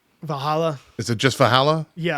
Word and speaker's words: Valhalla: Val how do you pronounce her name? Valhalla.